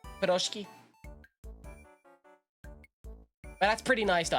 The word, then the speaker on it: piroshki: Eat Proshki. Is that the pronunciation? Piroshki.